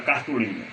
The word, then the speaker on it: cartolina: Por exemplo, vamos cantar a palavra cartolina. Cartolina, automaticamente você vai espetar o lin.